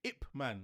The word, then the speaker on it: Ip Man: It's Ip-Man? impossible. No, but Is Donnie Yang Ip-Man? Is that how you say it? Ip man, not IP? IP man. No, it's Ip-Man.